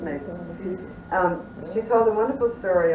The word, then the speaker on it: Myss: Carolyn Myss ~ I recently saw her and I just think that this is such a great story.( "Maze", yeah it looks like Myss, but it's pronounced "Maze".)